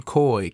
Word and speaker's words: Koi: So COY is how you spell Coy Stewart, but goes by stage name Coy, KOI.